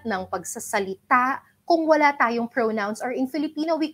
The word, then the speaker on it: pronoun: By the way, it's not pronounced as pronoun. All this time kasi akala ko rin pronoun. But then, I'll check the dictionary. I listen to other native speakers teaching English. It's not pronoun. Akala ko rin all this time pronoun eh. Pero it's pronoun. The O there is long.